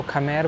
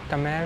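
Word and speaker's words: Khmer: उनकी लैंग्वेज भी है प्रोनाउंस करते हैं के एच एम ई आर अगर आप वर्ड देखेंगे तो उसको खमेर बोलेंगे लेकिन खमेर नहीं वह कमेर बोलते हैं यह वहां की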